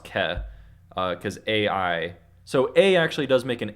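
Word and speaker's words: καί: an i sound but whenever an A and I are together it makes an e so it's K but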